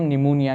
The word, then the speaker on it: pneumonia: देखना है कि जो निमोनिया में पी है यह साइलेंट है ठीक है सो आपने प्रोनंसिएशन भी सीखनी है कि इसको हम निमोनिया कहते हैं ठीक है पी साइलेंट है निमोनिया कौन सा इंफेक्शन है